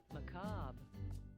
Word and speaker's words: macabre: Macabre. Macabre. Macabre. Yeah, macabre. Like, why is there an R and an E there if you're not gonna fucking pronounce it?